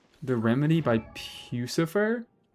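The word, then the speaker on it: Puscifer: The remedy by pucifer like Lucifer with a P.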